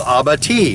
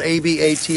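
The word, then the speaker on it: abatis: so they fall that way creating what's called Aba it's spelled AB a t i s it's a French word uh it's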